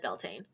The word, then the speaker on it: Beltane: Wikipedia like pronounces it Beltane yeah like Britannica a few different YouTube videos too and they all said Beltane yeah did you did